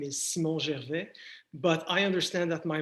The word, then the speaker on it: Gervais: I'm going to say Gervais because I speak French.